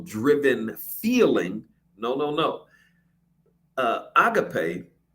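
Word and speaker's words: ἀγάπη: Well, it comes from the technical root agapao, but agape, many mispronounce it as agape.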